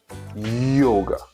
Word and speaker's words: yoga: And the correct way is to say yoga. So it's not J, it's Y.